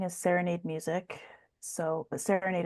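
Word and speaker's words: Saranaide: So, but Serenade is spelled S A R A N A I D E.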